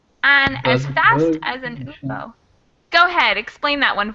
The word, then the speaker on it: UFO: say a university because even though it starts with a vowel, the way we pronounce it is kind of like a Y, like ya, instead of the actual vowel sound of oo. Like umbrella starts with but university starts with that ya sound.